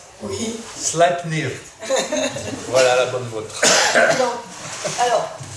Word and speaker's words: Sleipnir: Sleipnir. Sleipnir. Vous voulez que je le prononce à la norroise? Oui. Sleipnir.